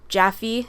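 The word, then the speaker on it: Jaffe: basically soapy but Sam jaff or jaffy as I've heard it's pronounced was unavailable to film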